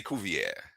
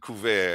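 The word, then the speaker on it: Cuvier: I always want to say Kovier, but Ku as is pronounced by most of the scholars who are here talking about him.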